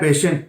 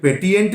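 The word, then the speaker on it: patient: पेटिएंट नहीं बोलेंगे और पेशिएंट नहीं बोलेंगे, पेशेंट। तो C के बाद, T के बाद और इवन S के बाद, क्लियर, अगर IENT आए तो इस I का प्रोनाउंसिएशन नहीं होता, I का प्रोनाउंसिएशन नहीं होता।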